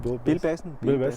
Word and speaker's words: Bilbasen: Do I pronounce it right? Bilbasen.